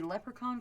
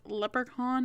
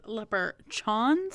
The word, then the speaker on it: leprechaun: told me this story she mispronounced leprechaun as leper chons of pretty much every single time I don't know what